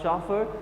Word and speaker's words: chauffeur: The chauffeur, the pronunciation of the given word is CHAUFFEUR, chauffeur.